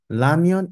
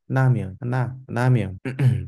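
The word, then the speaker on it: 라면: But it's not R. It's Namyon. It's not Lamyon, it's not Ramyon, it's Namyon.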